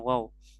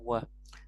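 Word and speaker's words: و: Nah, wa tadi ya, walaupun dia cuma satu huruf tapi dia tidak dibacanya wow, tapi dibacanya wa, memiliki arti dan ya.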